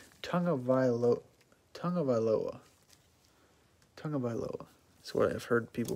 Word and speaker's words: Tagovailoa: Never heard of a silent N before, but I think it's Tagovailoa. That's what I've heard people pronounce it.